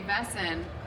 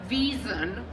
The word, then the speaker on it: Wesen: Even I remember, the first time Juliet had to say Wesen. Immediately when that episode aired, there was some German fan on Twitter who was like, it's pronounced Wiesen.